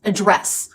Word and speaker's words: address: Now, as a verb, how do we address this issue? It's always address with second syllable stress.